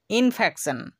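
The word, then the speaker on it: infection: সি, তাই আমরা টি আই ও এন এর উচ্চারণ সন এর মতো করছি। তেমনি করে দেখুন ইনফেকশন, ইনফেকশন, তো এই ওয়ার্ডটির মধ্যেও আমরা শব্দের শেষে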